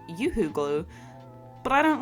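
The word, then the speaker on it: UHU: I attached Bradley to the base using some oooo glue which I've been told is actually pronounced yooo glue but I don't like that so I'm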